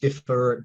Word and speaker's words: DFIR: groups like cyber Social Hub and dfir or differ Diva depending on what part of the world